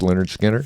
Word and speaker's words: Lynyrd Skynyrd: The whole album, pronounced Lynyrd Skynyrd.